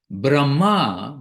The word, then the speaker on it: Brahma: of caught the difference Brahma with a long a at the end is Lord Brahma four-headed Brahma who is the creator of the content of this universe Brahma but Brahma Brahma is the effulgence the energy of the